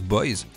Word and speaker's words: Boise: né percé cœur d'haleine boise que l'on prononce boys ou encore paillett et